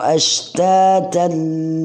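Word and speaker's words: أشتاتا: tapi di situ sesantai, ashtatan, ta panjangnya 2, kemudian ta kalau berhenti bacanya ashtatan, tapi kalau berhenti ashtata. Ya, kalau berhenti ya, tapi lebih bagus kalau disambung.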